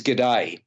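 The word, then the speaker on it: Gede: for a local seaweed fisherman whose name is G'day, which I thought was a nice touch, but G'day is spelt G-E-D-E, so there you go, played by Maxime Boutier.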